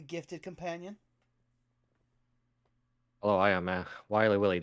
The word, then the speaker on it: XWilyWilly: Hello, I am XWilyWilly. The X is silent, and sometimes they are not there.